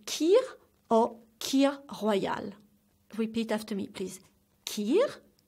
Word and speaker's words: kir royale: on the third drink is called tea or kir Royale repeat after me please kill Oh Kea Hawaii